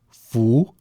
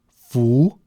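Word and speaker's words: 福: I will pronounce them for you now. Fu, which means blessing. Fu, blessing.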